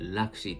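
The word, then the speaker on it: L'AXI: ィー AXI と書いて、ラクシーっていう、フォー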